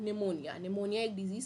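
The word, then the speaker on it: pneumonia: पी से start होता है और पी साइलेंट होता है। अब इसका स्पेलिंग क्या होता है? पी एन ई यू एम ओ एन आई ए निमोनिया।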